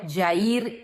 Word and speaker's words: Jair: Jairo o Jair se pronuncia en hebreo Yair y significa el que ilumina.